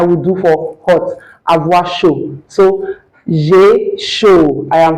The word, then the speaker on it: chaud: on this channel that the last consonants in French are rarely pronounced unless they have a word that follows them that begins with a vowel. So you can't say showed. That pronunciation is wrong.